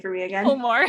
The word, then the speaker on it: Fulmore: Fulmore. Fulmore. I always want to say it like Fullermore. And yeah, I get like Fillmore a lot too.